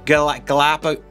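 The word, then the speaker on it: Galápagos: He'd spent some time in a place called the Galapagos.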